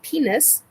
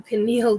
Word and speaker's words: pineal: you're you're calcifying your and I never say this gland right so please forgive me I accidentally once said penis um and I'm still not saying it correctly um so the paneel there we go I think thank you the pineal gland um and so yes